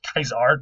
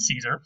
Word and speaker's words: Caesar: Of course, again, they pronounced it Caesar, not Caesar.